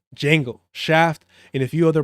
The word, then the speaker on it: Django: Django. Remember the D is silent. Django, Shaft, and a few other black action figures.